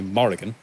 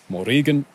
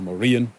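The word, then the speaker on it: Mórrígan: next morigan or Morin Americans generally will say Morrigan which is you know acceptable but it's not the right pronunciation so the way you were pronounced it properly is morigan or morian which means Phantom Queen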